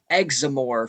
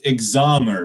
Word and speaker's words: Examore: this is uh professor examore from the um hell university it's pronounced examir but yeah yeah yeah